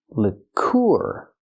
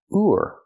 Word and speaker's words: liqueur: Use the short sound like this is for the first vowel. Lick. Lick. Lour. Then we have the sound using the ooh sound like food plus the r leour.